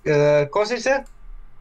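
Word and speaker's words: Košice: Wasn't it pronounced, wasn't the destination name pronounced Kosice?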